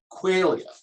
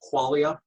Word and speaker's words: qualia: can also pronounce it qualia right it's it's like quality I'll stick with qualia